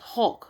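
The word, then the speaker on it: HAWC: says the hypersonic air breathing weapon concept right pronounced hulk right pronounce look it's spelled h-a-w-c right pronounced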